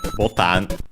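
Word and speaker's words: ボタン: letter B, and then botan, which we have seen before should be unaccented, because it's actually the difference in pronunciation compared to English is because it's actually from Portuguese.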